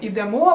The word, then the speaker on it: ідемо: присудок підемо до речі зверни увагу що всіх дієсловах які закінчуються на емо наголос на останній склад наприклад Ідемо беремо веземо несемо Я знаю що звучить